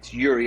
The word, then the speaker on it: Iuri: So my name is kind of a strange name. It's Yuri. It's spelled Iuri.